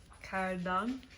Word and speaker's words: کردن: Kardan.